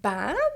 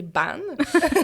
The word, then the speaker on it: Bannes: mais je m'appelle ban parce que tu sais mon nom de famille je sais que des fois c'est un petit atom crochu on sait jamais comment le prononcer donc c'est ban euh je suis créatrice